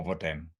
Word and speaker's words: hvordan: In this particular combination, the H is always silent. And it goes for a lot of these question words that we use in Danish. Hvornår, hvad, hvem, hvor, or hvordan.